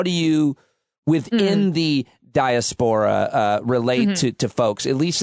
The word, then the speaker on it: diaspora: Diaspora is how it's pronounced.